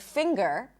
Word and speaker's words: finger: or in the word finger, you actually pop the G. It's not that you pop the G, there is a G sound in addition to the Ng sound. Finger, English, hungry.